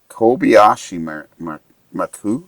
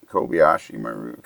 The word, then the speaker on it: Kobayashi Maru: Kobayashi Maku? Kobayashi Maku? Maru. M-A-R-U. M-A-R-U. I got to find out about that. Yeah. Kobayashi Maru.